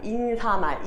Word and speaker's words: 인사말: 1번 근데 많은 사람들이 인사말 아니 왜 이걸 인산만이라고 하면 얘기예요 얘는 인사말이 맞는 발음이다라는 얘기죠 니은 청하가 될 이유가 없단 얘기예요 그래서 이거 잘못 쓰는 거죠 인사말이 맞아요 인사말 인사돌 그래서 얘는 맞는